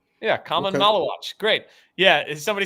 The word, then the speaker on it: Maluach: Now I know how to say it. Malawach.